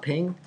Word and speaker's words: PNG: me show you why first of all it's pronounced ping um it was great